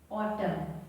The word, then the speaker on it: autumn: Autumn. A-U-O-T-U-M, tum. N over here is silent.